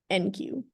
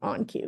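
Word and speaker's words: enqueue: so this is pronounced DQ and this is pronounced NQ or onq or but the difference is like q and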